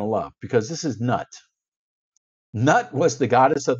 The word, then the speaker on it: Nut: The next one you're going to love, because this is Nut. Nut was the goddess of the sky. I think it's actually pronounced Newt.